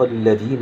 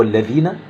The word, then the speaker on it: الذين: في الاسم الموصول الذين، في الاسم الموصول الذين، كام حد بيقول الذين اللي هي فيها حرف الذال؟ حرف الذال اللي شبه الدال ده وعليه نقطة، حرف الذال بتنطقه زاي، زهرة. كلمة زهرة أولها حرف اللي هو شبه الراء وعليه نقطة، ازاي؟ معروف. ففي ناس كتير جدا بتقول الذين بالذال، الذين بالزين أو الزاي.